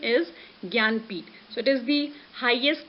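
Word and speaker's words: Jnanpith: If you will be going with the spelling Gnanpith, then you will be saying, ma'am, how it could be pronounced Gyanpith.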